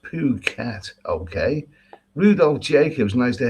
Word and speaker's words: Phuket: okay greetings uh Neil it's pronounced poo cat Okay Rudolph Jacobs nice